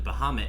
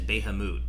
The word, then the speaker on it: Bahamut: I know I had an old friend of mine used to pronounce the Eidolon Bahamut as Behamut, and I always used to make fun of her, and I'm just like, Behamut, how could you?